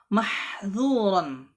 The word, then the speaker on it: محظورا: Kemudian An-Nadhim rahimahullah ta'ala berkata, lalu sempurnakanlah sifat infitah pada kata mahdzuran. Dzu, bukan zu ya. Dzu, dza, zi, zu, jelaskan. Dzu ya, tipiskan ya.